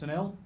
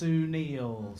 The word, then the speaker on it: Sunil: My name's Sunil," and he just went, "No." Absolutely not how you do that. It's actually pronounced Sunil.